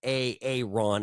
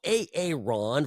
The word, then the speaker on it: Aaron: making fun of him that is how he asks people to pronounce his name it's a little weird anyway so a Aon versus Joe Lombardo looking